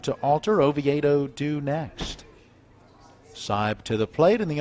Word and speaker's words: Seib: That's S-E-I-B. Seib. Spelled Seib, pronounced Seib.